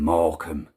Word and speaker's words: Morecambe: So Morecambe, you're really going to struggle spelling that if you were to try and spell it as it's pronounced. It's not one of those phonetic words. Morecambe.